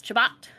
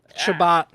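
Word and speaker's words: Chabot: we have Thomas chabat I don't care if that's the right way to say it I believe that is the right way to say it okay because it just makes me giggle chabat good chabat it's a great last name it's just fun to say that way uh coach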